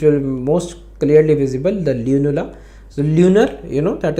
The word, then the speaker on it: lunula: Then we have something known as lanula which you can see in this image also. Lanula. Okay. Sorry. Lunula. Sorry. I'm sorry. Pronunciation. Lunula.